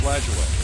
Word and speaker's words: Lajoie: How did he pronounce his name? I think it was Lajoie.